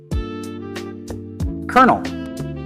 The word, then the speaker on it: colonel: Which word sounds exactly like kernel, as in corn? Colonel.